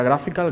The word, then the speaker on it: GraphQL: Este ID, que es web, es graphical, se pronuncia graphical, GraphQL, y al final en